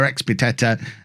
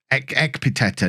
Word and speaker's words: Ekpiteta: We've got Wright in goal, a back four of Bachelor Expiteta, Ekpiteta, not Expiteta.